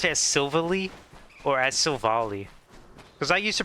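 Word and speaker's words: Silvally: It wasn't until I heard someone else say Silvali, I was like, "Oh, maybe it is pronounced that way."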